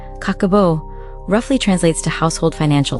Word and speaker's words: Kakeibo: Nearly a century ago, the word kikibbo, pronounced kakabo, roughly translates to household financial ledger.